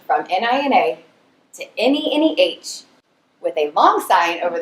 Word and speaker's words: Neneh: And as a true descendant of my mama, I changed the spelling from N-I-N-A to N-E-N-E-H with a long sign over the first E, so it's pronounced Neneh, not Neneh.